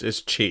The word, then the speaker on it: Qi: does is, it's a key charger that can be, or not key charger. Is it key charger or is it Qi charger? It's Qi. Qi, right. So I think that's how it's pronounced.